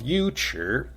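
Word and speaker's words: 尉迟: the first character of Yu Chi, Yu, is actually pronounced Wei. But when it's used as a surname, when the character Chi follows, the Wei becomes a Yu instead.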